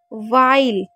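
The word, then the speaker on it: while: उसके बाद वाइल, इसको हमेशा वाइल पढ़िएगा क्योंकि एच हमारा साइलेंट रहता है। कभी भी डब्ल्यू एच आई होगा तो हमेशा एच को नहीं पढ़ना।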